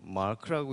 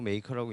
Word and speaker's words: makr: 회사 이름이 makr 있데 이거를 뭐 마크라고 읽는 분도 있고 메이커라고 읽는 분도 있는데 정확히는 그 메이커라고 있는게 맞아요 왜냐면 제이슨이 그렇게 얘기를 했기 때문에 회사 이름이 왜 메이커면